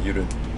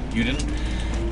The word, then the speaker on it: Yudin: Uden. Uden.